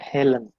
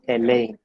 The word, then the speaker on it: Elaine: never anthony it's anthony the next one is elaine it is not helen it is elaine and the last one